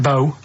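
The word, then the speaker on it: B.O.: It's not pronounced bow and it's not spout bow.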